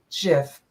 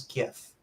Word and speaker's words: GIF: not and you say choosy mothers choose jiff but i am a mother and i'm very choosy and i choose gif but overall the format in the format itself the pronunciation is specified as jeff that's all i have